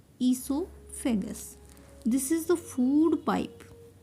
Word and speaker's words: esophagus: food pipe is esophagus esophagus o is silent here ESO fagus this is the food